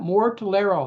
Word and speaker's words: Mortellaro: Mortellaro.